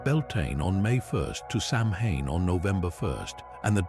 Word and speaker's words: Samhain: Pronounced Samhain, this was not a single night of trick-or-treating,